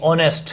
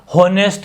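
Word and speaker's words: honest: pronunciation में गलती मत करना, ओ है ये, और यही पूछा जाएगा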